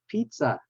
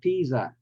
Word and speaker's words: pizza: the next one is pizza it's not Piza the first syllable is pronounced like uh repeat Pete or or the name for Peter the short name for Peter is Pete so Pizza okay Wednesday we already